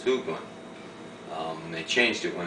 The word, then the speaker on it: Hoagland: the same way and it wasn't hogland it was hland um they changed it